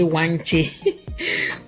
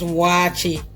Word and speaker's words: waakye: Some people say wanche. Wanche, our waakye is ready. It's not wanche, okay? You know those people who say wanche. I know. The Americans say wanche. It's not wanche. It's waakye. Waakye, yes. Okay, so our waakye is